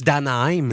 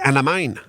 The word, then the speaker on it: Anaheim: Par exemple, Martin, l'autre fois, tu nous parlais d'un de tes chums qui est pas capable de dire les Ducks d'Anaheim. Il disait Anamine.